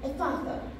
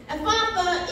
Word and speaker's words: Ephphatha: And he said to the man, "Ephatha."